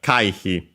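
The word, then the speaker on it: 回避: Accent on the first mora, this one, so Kaihi.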